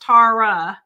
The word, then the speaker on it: Tawra: Tawra is Tara.